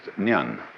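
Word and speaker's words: 念: they have a very interesting sign this it's pronounced Nan in Japanese n and the top part of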